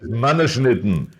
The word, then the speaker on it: Mannerschnitten: Yes, Mannerschnitten. Okay, can you pronounce again?